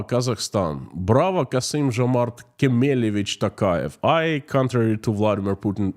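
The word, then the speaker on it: Tokayev: I say Bravo Kazakhstan Bravo kasim Jamar kich Takay I contrary to Vladimir Putin say his name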